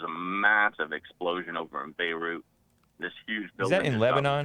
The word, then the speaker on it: Beirut: yeah yeah beirut ex beiru is it beiru or beirut i think you pronounce the t beirut you do pronounce the